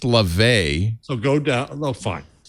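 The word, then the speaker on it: Laufey: tick-tock here it is i see it now pronounced la vay so go down no fine so which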